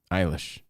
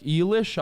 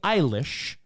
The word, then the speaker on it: Eilish: your daughter loves her billy eilish eilish that is a top list of people i guess maybe older people are other people out of their like eelish eyelash so billy eilish okay is a very mispronounced word in 2021 it's a